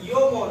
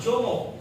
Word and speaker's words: Jomo: See the word we have to pronounce as a yomo, not jomo. Okay, in brackets you have been given how to pronounce it.